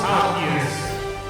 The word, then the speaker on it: Halkias: Halkias.